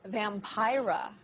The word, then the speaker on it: Vampira: joining us now is vampira rhymes with tyra and she's leading a double